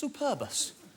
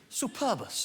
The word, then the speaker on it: superbus: his latin name lamprotonus superbus superbus i like that you've got to pronounce superbus correctly haven't you because if it's superbus it's latin for superb and of it's superbus it's just a nice bus and you're never going